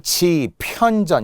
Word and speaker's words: 집현전: 자, 발음은 분명 지편전 이렇게 발음이 나겠죠.